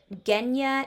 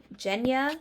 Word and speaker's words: Genya: I'm kind of not sure how to pronounce her name because I heard it both Genya and Jenya. So I kind of like Jenya, so we're gonna go with Jenya. Because the first thing I heard.